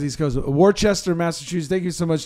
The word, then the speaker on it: Worcester: I'm pretty sure it's Worcester.